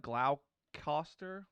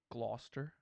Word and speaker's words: Gloucester: it's like Scotland it looks like Glau Costa but it's actually Gloucester instead of like you like just drop all the middle part interesting it looks like Gloucester Shire but it's just glossary something crazy like that Dawson any of